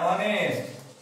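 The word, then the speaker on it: honest: এখানে বলি উদাহরণ দিয়ে অ্যান অনেস্ট অ্যান অনেস্ট ম্যান এখানে সাইলেন্ট কনসোনেন্ট এন আওয়ার এখানে সাইলেন্ট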